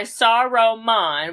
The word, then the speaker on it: Saruman: So, okay, the spell was cast by Saruman, which is 3 syllables, which is the wizard.